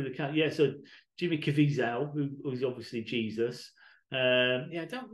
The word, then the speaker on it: Caviezel: So there's Jim, I want to say Cazavelle. I don't know how to pronounce that name. Oh, Jim Caviezel.